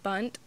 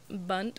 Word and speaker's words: Bundt: nothing bundt cakes it they're they're bunt bunt like b-u-n-d-t yeah that's how you spell it um little bundt